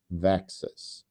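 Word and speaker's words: VEXAS: And so we call that disease Vexus VXAs which rhymes with Texas and it is an acronym for vacules E1 activating enzyme which is uh uh what UBA1 encodes.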